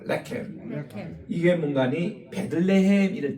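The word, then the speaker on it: לחם: 따라합시다. 레켐. 액센트가 앞에 있어요. 레켐.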